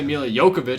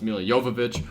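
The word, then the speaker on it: Milla Jovovich: I'm going to say Mila Jovovich, because that's how I always say her name, even though it's Mila Jovovich.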